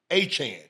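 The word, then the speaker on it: Achane: It's like Jackie Chan. Yes. It's a Chan.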